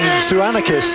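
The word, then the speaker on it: Tzouakanis: R real TZ John sanakis TZ o u a k a n i s is how pronouncing hence the TZ and uh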